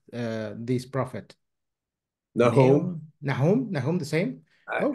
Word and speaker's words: Nahum: Oh, Nahum. Yeah, I was thinking something like that. But the pronunciation closely in the Hebrew language is Nahum.